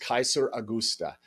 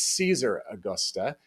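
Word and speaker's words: Caesaraugusta: Okay, now Oh, In Latin, of course, it would be pronounced Kaiser Augusta. But then in Spain, they started pronouncing that C as more of a soft C, and so they started pronouncing it as Caesar Augusta. And if you say it really fast, you get Zaragoza.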